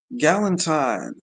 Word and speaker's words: Galentine: Galentine. Rhyming with Valentine.